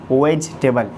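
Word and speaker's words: vegetable: यहाँ पर जो ई है वेजिटेबल में ये साइलेंट रहता है। अक्सरियत लोग को पता नहीं रहता कि ये स्पेलिंग साइलेंट होना चाहिए। अक्सरियत के लोग मतलब वेजिटेबल पढ़ते हैं, वेजिटेबल, लेकिन ये क्लियर नहीं है, ये वर्ड गलत है, इस तरह से पढ़ना गलत है। इसको पढ़ेंगे क्या? वेजिटेबल, ये ई स्पेलिंग को साइलेंट रखना है।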